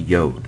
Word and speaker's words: yod: but this is the yod the Y and it is kind of like an apostrophe um in in Hebrew and it transliterates as a y and is pronounced like